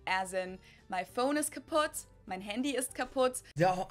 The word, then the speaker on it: kaputt: We spell it with two T's in Germany, but we pronounce it the same way, kaputt.